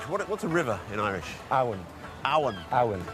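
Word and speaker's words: abhainn: Awan. Awan. Awan. So very similar to Avon, which is the Old English and the Welsh.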